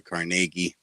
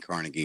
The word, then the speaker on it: Carnegie: tennis Stadium's named after oh here's an Andrew carnegi ogens oh so that's how you pronounce it I always thought it was Carnegie yeah I I I grew up saying Carnegie Hall it's carnegi so oh okay this is